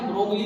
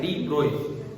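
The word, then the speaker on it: de Broglie: वो लिखने की स्पेलिंग ये है, आगे से ना ब्रोगली नहीं बोलना है। इनका नाम क्या है? डी ब्रोय, Prince Louis Victor डी ब्रोय। मैं तो कभी ब्रोगली नहीं बोलता हूँ, तो डी ब्रोय वेवलेंथ ही बोलता हूँ, ठीक है।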